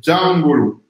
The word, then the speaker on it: Jangolo: Alors, le mot, c'est vrai que chaque fois on me fait la remarque par rapport à la prononciation, c'est Djangolo.